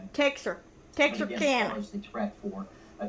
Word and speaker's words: Texarkana: Texarkana Texas yeah Texarkana it's not texicana it's Texarkana Texas Arkansas Louisiana Texarkana I don't